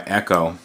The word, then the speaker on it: Ekco: these and this is made by uh Echo company um ekco is how it's spelled this is the best